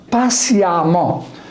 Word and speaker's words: patiemment: J'ajoute E2M ENT et je prononce A au lieu de E. Récent, récemment. Patient, patiemment.